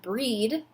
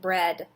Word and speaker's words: bread: they're not making E we don't pronounce this word breed no we pronounce it bread oh my goodness let's